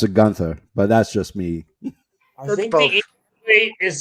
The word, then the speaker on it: Gunther: it Gunther or is it Gunter I I pronounce A Gunther but that's just me is supposed to be Gunter yeah well I prefer to film I prefer